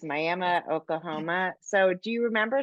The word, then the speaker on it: Miami: It, it's Miami. spelled like Miami, but it's Miami, Oklahoma.